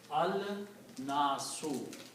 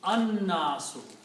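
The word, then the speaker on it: الناس: away and it becomes al-nasu. The word becomes al-nasu. But when we try to read these together, noon is a shamsi letter, it kills the sound of lam. So you pronounce an-nasu.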